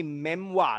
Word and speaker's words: memoir: So wave is a memoir, not a memoir. It's pronounced memoir, okay?